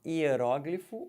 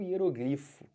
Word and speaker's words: hieróglifo: Ó, hieróglifo ou hieroglifo. Hieróglifo ou hieroglifo. Tanto faz.